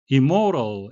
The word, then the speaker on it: immoral: immortal m이 두 번 겹치지만 발음은 한 번만 하겠습니다.